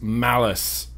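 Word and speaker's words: Malus: Malice.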